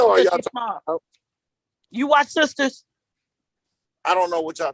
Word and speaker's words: Sistas: Yes, BET, Tyler Perry's Sisters, and Sisters is spelled SISTAS. It's Tyler Perry's Sisters, and it's about 4 Black women in their 30s growing up in their lives in the 30s, basically.